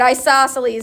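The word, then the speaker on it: isosceles: Isoselles is how you say that one. It's a weird spelling.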